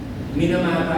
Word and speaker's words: Minamata: Minamata actually ang tawag pronunciation.